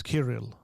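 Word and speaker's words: Kirill: saying in 2016 that his name is kiril but uh he he maybe doesn't know how to say it so as I saying in 2016.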